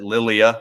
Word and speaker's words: Lilia: supposed to be yeah the name is spelled Laya but they pronounce it Lilia I guess so this is